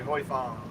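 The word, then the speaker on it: Huy Fong: Yeah, hung foy, Spell that again. HUYFONG, hoi fong.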